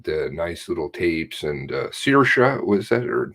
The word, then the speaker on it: Saoirse: And Saoirse, was that?